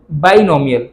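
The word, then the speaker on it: binomial: बच्चे बार बार इसको बाइनोमियल, थोड़ा वो बायो माइंड में था तो बार बार बायो था, बायो नहीं बाइनोमियल।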